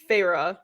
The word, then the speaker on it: Feyre: Well, either way, she just tried to, well, not just, like 100 years ago, Feyre, which now I've discovered is exactly how you say her name, is like, she like